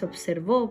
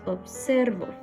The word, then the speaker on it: observo: No es observo, No es observó porque no lleva tilde, ¿cierto? Es observo. Aquí se carga la voz, por lo tanto esta sería una palabra grave.